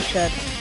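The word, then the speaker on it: 四: is the number four one of the ways of pronouncing it is she and she is also the word for death in Japan so therefore it's unlucky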